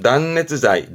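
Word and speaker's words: 断熱材: 발음은 단네츠자이, 단네츠자이.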